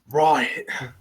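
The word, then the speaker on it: Ryatt: Okay, it's Riot with a Y and an A and a TT. Riot. It's like Ryan, but he likes TTs.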